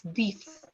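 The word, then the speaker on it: dix: no shoes 10 is pronounced as Farhan it's pronounced as d i x dies it's the ixds okay I hope this rule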